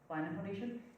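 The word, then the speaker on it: Blandin Foundation: And tying this to the Blandon Foundation, years back, you said, Blandon Foundation?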